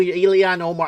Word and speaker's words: Ilhan Omar: I know who Ilhan Omar.